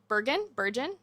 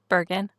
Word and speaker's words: Bergen: Burgon is how you say it. Bergen, I think.